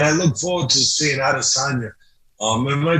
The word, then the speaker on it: Adesanya: I look forward to seeing all those fights, and I look forward to seeing Adesanya. Am I pronouncing his name properly?